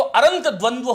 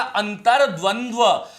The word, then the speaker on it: अंतर्द्वंद्व: बता रहा हूं कि र, अब इसको उच्चारण करके देखो, ये तो अरंत द्वंद्व हो गया, शब्द बनेगा अंतर्द्वंद्व, अंतर्द्वंद्व।